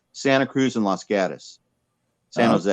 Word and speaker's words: Santa Cruz: Like people will say Santa Cruz. We don't say Santa Cruz. We say Santa Cruz. So if anybody who's ever like been there or from here knows that it's Santa Cruz and Los Gatos, San Jose.